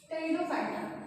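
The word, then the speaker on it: Pteridophyta: Third है टेरिडोफाइटा। पी इसमें silent रहता है।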